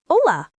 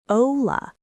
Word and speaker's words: hola: It's hola, pronounced hola. It's super simple, completely universal across South America, Central America, and Spain, and that silent H means you can't mess it up.